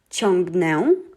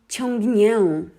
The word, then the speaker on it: ciągnę: It would have sounded, instead of ciągnę, it would be ciągnię. And why we don't do that? First of all, it is hard to pronounce and it sounds wrong in Polish. Ciągnię. It would be too soft of a sound. Polish language is soft, but not that soft.